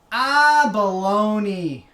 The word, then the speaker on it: abalone: about the abalone my my teacher taught us how to pronounce it by saying ah baloney and I still remember